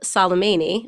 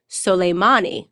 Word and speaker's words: Soleimani: news that we killed Salameh knee I'm saying his name wrong I've just learned actually it's soleimani because I am here